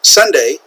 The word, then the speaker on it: sundae: in English this is pronounced sundae just like the day of the week Sunday however in Korean you